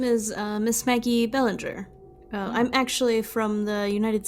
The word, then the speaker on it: Bellinger: Is it not Belanger? Well, in the States, they would all pronounce it Bellinger, but it does seem like it comes from the French, yes?